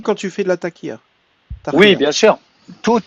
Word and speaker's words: taqiyya: Ça se prononce taqiya.